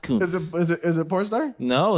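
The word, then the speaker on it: Kuntz: It's actually pronounced Cunts.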